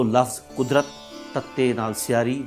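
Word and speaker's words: قاضی: समझ चुके हा कि अरबी दे विच अखर जवाद जो अते जे द उच्चारण ददा नाल हो है लज कागज न कागज बोलते हैं नजर न नजर हजूर न हजूर इस तरह ही काजी द उच्चारण भी कादी है इस तरह कादिया का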